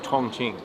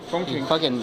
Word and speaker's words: Chongqing: My pronunciation of Tongqing. Chongqing.